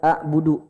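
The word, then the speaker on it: أَعْبُدُ: Di bawah ada hamzah ha, di tengah ada ain ha, di atas ada goin kho. Jadi A itu di sini tengah. A. La kalau hamzah di bawah. Jadi cara bacanya A. A. Bukan A. Bukan A budu. A budu. Harus ada tekanan di tengah.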